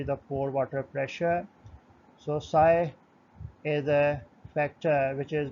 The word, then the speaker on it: psi: u sub a minus psi this symbol is pronounced as psi into u sub w minus u sub a